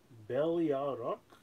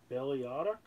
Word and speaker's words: Beliarok: Beliarok? Beliarok? It's like Belial, but then Rock at the end, because it's the Belial sword.